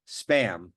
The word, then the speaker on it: SBAM: They're apparently pronounced spam, but Spam. it's not spam with a P, like the food that you eat that's originally from Hawaii in a tin Yep. can, but spam with a B.